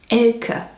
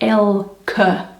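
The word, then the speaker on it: Elke: Anyway, the name is actually pronounced Ela, more like El C, you see.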